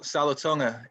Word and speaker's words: Salatonga: real name for me my middle name is uh pronounced salatonga it's a samoan it kind of just